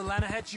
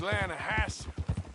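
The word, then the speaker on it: Lannahechee: rolled down to the Lana Hetchy River I caught some beautiful steelhead trout you mean the Lana no Lana hatch it runs right near here yeah it's pronounced Lana Hass why is everything in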